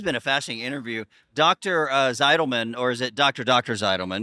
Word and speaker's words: Zitelmann: It's in German, Rainer Zitelman, but I know it's easy. Rainer Zitelman, and this is the American version of my name.